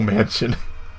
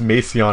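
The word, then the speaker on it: Maison: a half to realize it's not Battle Mansion it's like one day I saw someone seen someone pronounce it as Macon and spell it as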